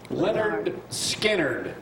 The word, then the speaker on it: Lynyrd Skynyrd: Skynyrd free burger what Lynyrd Skynyrd pronounced leather Skynyrd that is the name of it how you pronounce Lynyrd